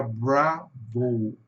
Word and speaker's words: Bravo: Então, o que que acontece aqui, pessoal, em inglês, esse simbolozinho aqui, esse apóstrofo antes da palavra, significa que a sílaba tônica está aqui no começo. Em inglês fica bravo, né?